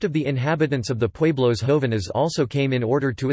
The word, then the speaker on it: Pueblos jóvenes: Pueblos jóvenes Spanish pronunciation, PWE beta los XO beta NS, young